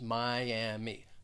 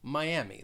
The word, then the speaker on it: Miami: city in florida and the one thing i really want to point out with this is that it does have three syllables miami miami the stress is on that second syllable there are many spanish speakers who live in miami and spanish speakers may pronounce it as miami but most people throughout the united states will just say miami miami then let's go